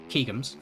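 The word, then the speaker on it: Ķegums: the tracks let's say keegans for example or kegums whichever your pronunciation is it's wide open everywhere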